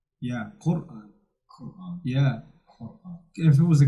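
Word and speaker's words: Qur'an: This is the same word used in Quran. Quran. We don't say Quran. We say Quran. It's deeper. Yeah, Quran. Quran. Yeah. Quran.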